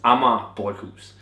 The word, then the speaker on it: Amager Bryghus: reviews so far and people can't pronounce it it's amama buus they make some of